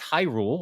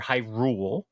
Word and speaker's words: Hyrule: I understand it's Hyrule or Hyrule, however you want to say it.